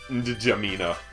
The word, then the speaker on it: N'Djamena: What else starts with a silent N? Nothing. The capital of Chad does. Does it? It's N'Djamena. That's not even lying. I believe it. It's N'Djamena. So, it could even be two silents.